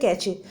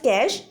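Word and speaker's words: cache: the other one इज द कैच pronounce as कैश इट is very small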